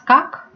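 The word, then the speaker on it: как: Did you read it as kak? Surprise, surprise, it's correct.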